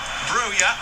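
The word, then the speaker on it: Broja: Did actually ask you once whether he's we should say his name is Buyer or Roger. He didn't really care. told me to say broer and then two minutes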